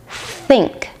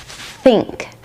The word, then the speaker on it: think: So your tongue is sticking out between your teeth, slightly tense. And now you're going to breathe in air and blow out that air through your mouth. Think think That made me kind of dizzy. How about you? Let's zoom in and see how it would look in real life. Think. Think. Many times non-native speakers will replace the unvoiced th sound f with a t sound t or an s sound s.